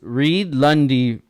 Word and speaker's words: Reid Lunde: thank you for being on today's guest is Reed Lundy from KS tune Kaizen speed yes sir did I pronounce it right you did Kaizen thrombo Kaizen